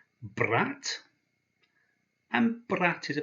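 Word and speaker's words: брат: already we have this word here which is pronounced brat and but that is a very appropriate word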